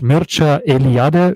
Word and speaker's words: Mircea Eliade: Der Name für den Autor ist, also spricht sich Mircea Eliade, schreibt man Mircea Eliade.